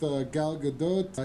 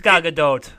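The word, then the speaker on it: Gal Gadot: I'm going to play it right now with Galadote. Here's G. Oh, Galadote. Galadote. And it's not Galadot. Yeah, it's not. It's Galadote. Yeah, it's not Galado. And it's definitely not Galadot. Galadot. Galadote.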